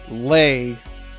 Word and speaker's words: ley: Gaia and the quote lay, end quote, of the land. And lay is spelled L-E-Y. So the ley lines.